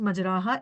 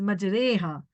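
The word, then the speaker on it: مَجْرَاهَا: It is not pronounced majraha, it is majreha.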